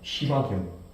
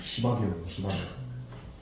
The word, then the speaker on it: 시바견: 이름도 거룩한 시바견. 이거 욕 아닙니다. 시바견. 이 발음 세게 하면 안 돼요. 쌍시옷 들어가면 시바.